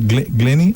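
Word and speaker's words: Glyne: And it's pronounced Glenny.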